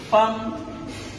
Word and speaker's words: femme: J'aimerais savoir pourquoi l'on écrit femme avec E, pourquoi pas avec A. Super. Alors, c'est une très belle question. Femme qui s'écrit F-E-2-M-E, qu'on ne dit pas femme ou femme.